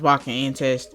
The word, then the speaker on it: Baka to Test: It's actually pronounced Bakken Test.